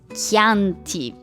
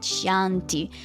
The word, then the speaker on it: Chianti: Or how can you know that it's Chianti, okay, and not Chianti, for example?